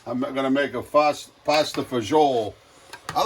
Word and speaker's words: fagioli: And that's because I work with Carlo Galazzo, and it was fagioli is bean in Italian. So I don't know why Americans, we always pasta fagioli, like they can't pronounce it properly.